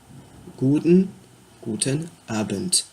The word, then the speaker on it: guten Abend: Pour le soir, ce sera guten Abend. A-B-E-N-D. Le D, oui, se prononce souvent en T à la fin d'un mot en allemand.